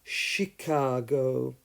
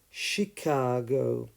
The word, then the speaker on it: Chicago: charm Chapel chimney and as a she sound in the name of the city of Chicago Chicago so choir character charisma chameleon chemical chemistry chemist charm chapel chimney but the city is called Chicago so the only way